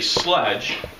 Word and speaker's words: sledge: put that word up there, you'd say sledge. But that's not a common word that we use, and there's a picture of a sleigh, so you would convince yourself, well, maybe that word we pronounce it sleigh.